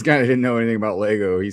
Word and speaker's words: Lego: Just be like, "Hey, just let you know if you don't if you keep saying Legos, you're gonna get a billion people like, "No, it's pronounced Lego."